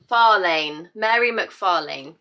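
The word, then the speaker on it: Mhairi McFarlane: How to pronounce... Mary. Mary. Mary McFarlane.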